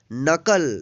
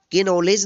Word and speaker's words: know: यहाँ पे देखिए के नॉलेज नहीं पढ़ेंगे क्योंकि एन से पहले के है तो के यहाँ पे साइलेंट हो गया है। KNOW, इसको पढ़ेंगे नो, इसको कुनो नहीं पढ़ेंगे। क्या पढ़ेंगे? नो।